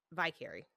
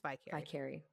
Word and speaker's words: Vicary: We're going to go with Vicary. James Vicary. Like the Vicar.